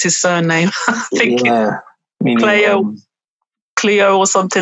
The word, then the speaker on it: Coelho: I can never pronounce his surname. I think Cleo or something like that. Coelho.